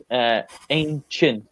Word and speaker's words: ancient: So ancient. This ci, um like I know in like science, the word science, it makes a s sound, but here it makes a ch sound. So ancient.